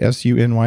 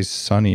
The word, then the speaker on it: SUNY: do you say it, S-U-N-Y, or did you say Sunny if you're cool? No, it's SUNY.